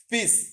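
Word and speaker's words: fils: বলে হচ্ছে সন, সেটাকে হচ্ছে ফ্রেঞ্চে বলে হচ্ছে ফিস। এল এর উচ্চারণটা এক্ষেত্রে হয়নি, এটা যদি বলেন আমাকে রুলস এর মধ্যে পড়ছে না, এটা রুলস এর মধ্যে পড়ে নাই।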